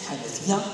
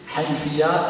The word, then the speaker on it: Hanifiyyah: Je laisse maintenant la parole au collectif Hanfia, je l'ai bien prononcé Hanifia.